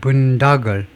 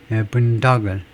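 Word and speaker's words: boondoggle: 그래서 이게 발음이 발음은 아메리칸 잉글리시에서 분다글, 브리티시 잉글리시에서 분다글, 뭐 똑같습니다. 분다글. 그래서 분다글 한다 이거죠. 그래서 스트레스가 그러니까 첫 번째 음절에 있네요.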